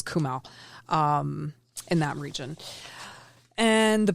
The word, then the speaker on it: Kumaon: Kumaon.